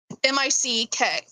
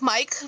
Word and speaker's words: Mick: M I C K. M I C K like Mike, but it's pronounced Mick.